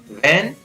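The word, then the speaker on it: when: What, व्हेन, वेयर, which, Y, विट, वाइट, whisper, will, वीज।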